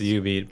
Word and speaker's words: jubeat: It's pronounced Ubeat. But anyways, oh yes. my goodness. So for anyone who doesn't know, there's an arcade game from Konami called Ubeat.